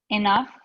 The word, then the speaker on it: enough: GH yeah and what what is the pronunciation of that GH like f in the okay which ones are saying the F sound with the and it's